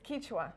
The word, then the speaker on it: Quichua: me now owner of kicha am I saying it right it's kicha kicha kicha faster kicha Pop Shop here